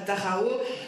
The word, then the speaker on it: Dachau: Bon, mais plus grave, ce que l'on entend aussi dans la manifestation contre la grève, c'est Cohn-Bendit à Dachau. Enfin, c'est prononcé comme ça, Cohn-Bendit à voilà, Dachau.